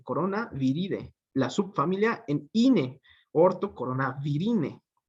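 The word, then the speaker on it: Coronaviridae: Con D, idae, que dicen los que saben que se pronuncia ide, ¿no? O sea, es decir, aquí sería coronaviride, ¿sí?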